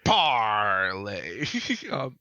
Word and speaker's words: Parlay: I have an obligation to pronounce this card correctly, which is Parlay.